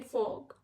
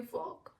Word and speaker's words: fork: Next चीज़ है कांटा, जिसको हम इंग्लिश में कहेंगे फॉग, FORK, फॉग। आर जो है वो साइलेंट हो जाएगा और उसको हम बोलेंगे फॉग।